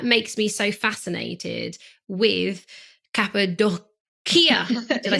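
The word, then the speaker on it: Cappadocia: so now that makes me so fascinated with Capia did I say it right yes kabad doia because of quite extreme Continental volcanic Tower this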